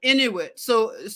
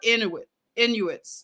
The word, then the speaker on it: Inuit: Okay, so it's It's an area that is mysterious in Inuit. So you would say that this people group that you're looking at are Inuits.